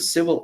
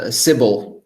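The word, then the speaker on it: Sybil: now I'm particularly interested in solutions to the civil attack problem to me it seems like a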